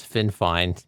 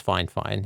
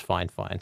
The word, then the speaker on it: FIFINE: We'll see if FineFine makes a quality product. I had to ask them how the name was pronounced because I thought it was FinFine, but it's FineFine is how they pronounce it.